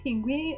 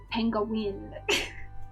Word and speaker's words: penguin: about penguins but he can't pronounce the word penguin properly so every time he says it it's like some weird kind of like penguin it's like it's pinguin pinguin it's like wow it's a penguin sir penguin uh girl